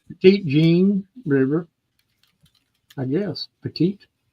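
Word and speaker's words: Petit Jean: ptit how do you say that channel name petite Jean River I guess petite how you doing yeah yep Pettit Jean River Jean River Pettit okay thanks oh oh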